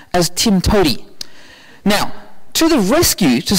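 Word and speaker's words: TIMTOWTDI: to do it um that acronym commonly gets pronounced as Tim to now to the rescue to solve your objectoriented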